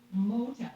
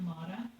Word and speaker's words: Mota: Okay, had said Meredith, it's not a big deal, but it's pronounced Mota, like mow the grass. So it's Mota, not Mata.